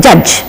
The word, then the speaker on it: judge: in the end but look at the spelling J in the beginning but d g e in the ending but the pronunciation is the same in both the places judge one is represented by J the other is shown by G and also the D is totally silent we're not supposed to